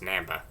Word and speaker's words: Namba: Then Professor Namba, who, just like Butch, would always have his name pronounced wrong, and he'd call them on this damn cell phone and just yell at them that it's pronounced Namba.